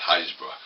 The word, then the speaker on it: Happisburgh: East Norfolk coast, between Winterton and Winterton and Haysborough. If you look at the name, it's called Happisburgh, but it's not. It's pronounced Haysborough.